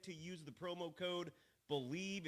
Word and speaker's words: Bleav: Head to BetOnline today and don't forget to use the promo code BELIEVE. It's the name of the network, except it's spelled a little uniquely, B-L-E-A-V.